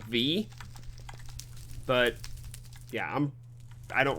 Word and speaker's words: Vis: of v you have i pronounced it vees and i think i found out it's technically called v but yeah i'm i